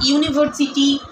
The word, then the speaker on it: university: So here I give some example like a university, a 1 rupee, a useful book. All of these word is started with a vowel letters, but the pronunciation is like U or wa.